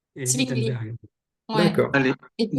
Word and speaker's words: Wittenberg: Le W se prononce V en allemand. Ah, ok. Donc, c'est Zwingli et c'est Wittenberg.